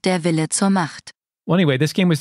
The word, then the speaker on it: Der Wille zur Macht: Xenosaga Episode 1, Der Wille zur Macht. Is that how you say that? I think so. German FakeNet, can you help us out? FakeNets initialisieren. Yes. It is pronounced Der Wille zur Macht.